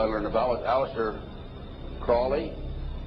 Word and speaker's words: Crowley: learned about was aliser Crawley he likes to have his name pronounced Crowley to rhyme with holy and uh the Satanist